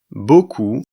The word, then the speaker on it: beaucoup: Ici, la lettre P à la fin de ce mot ne se prononce pas. Elle est muette.